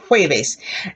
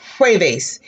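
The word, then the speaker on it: jueves: waves that's for thursday you see here hueves that j has the h sound remember h has no sound so i say blow puebas or es hueves if you feel the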